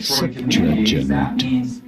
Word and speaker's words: Septuagint: Septuagint. Septuagint. You do want to stress on the first syllable.